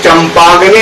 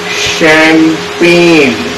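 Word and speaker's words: champagne: इसको चंपागने नहीं पढ़ेंगे, इसको पढ़ेंगे क्या? शैंपेन। शैंपेन, और इसे शैंपेन को पेन थोड़ा लंबा खींचते, शैंपेन।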